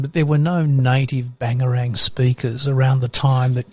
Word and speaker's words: Bangerang: So people will get confused up this way with bangarang or pangarang. But when you pronounce it traditionally it's bangarang. So if you go bangarang bangarang it sounds like a b or a p.